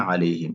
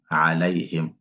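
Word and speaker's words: عَلَيْهِمْ: C'est pas alayhim. Ici, on a un fatha qui est là, sur le lam. Donc c'est alayhim.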